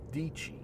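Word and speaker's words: Sarah Dietschy: you know that um Sarah dichi rhymes with peachy so Sarah did she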